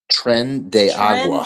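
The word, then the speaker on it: Tren de Aragua: How you pronounce it? Tren de Agua.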